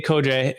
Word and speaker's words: Codrea: code that's right it's code like like I think like Cobra Kai I'm thinking like the uh you know like code like that would be like the guys like nickname right so Dave KOJA is spelled c-o-d-r-e-a you can find more